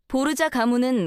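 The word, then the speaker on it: Borgia: 보르자 가문은 원래 스페인 출신이에요. 성도 원래는 보르하였는데 이탈리아로 건너오면서 발음을 바꿔서 보르자가 됐죠.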